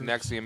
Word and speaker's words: NXIVM: Nxivm, pronounced Nxivm, is basically a giant sex cult hidden behind a self-help group.